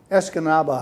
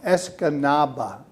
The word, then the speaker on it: Escanaba: out of high school uh what high school escanaba high school could you spell it e-s-c-a-n-a-b-a as comaba escanaba askanaba and yeah escanaba high school wendy's graduate i graduated in 1950 june of 1950.